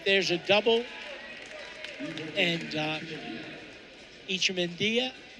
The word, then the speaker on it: Echemendia: a double and uh icha and if that sounds funny that is the correct pronunciation of his name and you don't hear